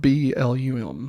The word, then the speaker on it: Blum: Blum I think it's Bloom because isn't it Bloom house that's what I thought okay it's spelled b-l-u-m like Plum but Blum Blum blouse uh merging